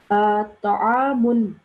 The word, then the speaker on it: طعام: Ta'amun. The sound of the meme here, we have to pronounce the noon sound at the end because